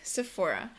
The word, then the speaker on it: Sephora: it's Adidas number eight Sephora uh with this word just make sure you know that the pH makes an F sound Sephora this is one of